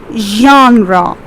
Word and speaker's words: genre: here is g e g-e-n-r-e that is spelled as genre listen to the pronunciation again it's genre the second one what